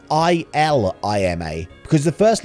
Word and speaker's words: Ilima: it's illimo isn't it it's ilima ilima not lilima illima you can now